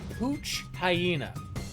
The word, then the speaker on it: Poochyena: One of the Pokemon that I've always been the most, like, astounded about is the Pokemon Poochyena. Because it's meant to be a pooch hyena.